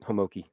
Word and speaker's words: Homoki: pronounce your last name oh you had it exactly right homoki hamoki because it's h-o-m-i-k-a oh okay h-o-m-o-k-i okay I ah see